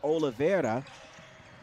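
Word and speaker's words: Olivera: I was pronouncing one of the players for the Tigers last name incorrectly is Ola Vera.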